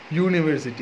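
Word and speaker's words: university: यहाँ पे देखो, यूनिवर्सिटी, यूनिवर्सिटी के साउंड क्या होते हैं? यू साउंड आते हैं। कौन सा? हम लोग वाई यू आते हैं।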